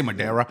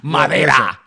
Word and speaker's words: Madera: Say it right, man. Don't say Madera. It's not English. It's Spanish. Madera.